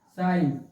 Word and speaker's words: sign: देखो यन से पूर्व जी आ गया है, इसलिए जी हो साइलेंट हो गया है, इसको बोल दिया गया